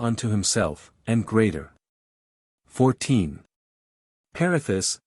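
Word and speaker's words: Perithous: Perithus and Theseus must, for the meter, be pronounced as words of 4 and 3 syllables respectively, the vowels at the end not being diphthongated, but enunciated separately, as if the words were printed pierithous, the seus.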